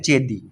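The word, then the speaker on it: चेदि: वैसे इसकी प्रोनाउंसिएशन हिंदी में होती है चेदी, ठीक है।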